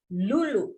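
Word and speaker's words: Luluk: Lulu pakai K. Lulu Hidayati.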